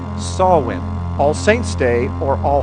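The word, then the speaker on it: Samhain: with a holiday an ancient Celtic holiday it's pronounced sawwin All Saints Day or All Hallows Eve is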